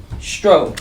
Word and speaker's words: Zztro: When you said it is two Z's, but it's pronounced as Zztro.